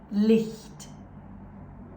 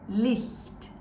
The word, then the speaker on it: Licht: These ones with the soft CH sounds and these ones with the harsh CH sounds. Let's go through the soft list first. Try and pronounce after me. Licht, Licht, echt, echt, wichtig, wichtig,